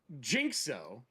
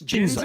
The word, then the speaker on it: Jinzo: Davina, and it's not Jinxo. No. What is it? It's Jinzo.